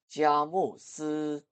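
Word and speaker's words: 佳木斯: 중국어 발음은 이렇습니다. 자모스.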